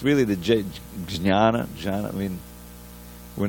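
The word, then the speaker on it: jñāna: For instead of for it's jnana, but there really is, it's supposed to be a little bit of an N sound, jnana, but that Y has to be in there.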